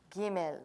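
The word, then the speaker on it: ג: so we have Aleph Beth wait Kim L gimel they are pronounced the same way next letter dalet now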